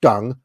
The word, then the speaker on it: Deng: an actual um I don't care if it's pronounced dung I'm not Chinese I'm pronouncing it D so all of you kind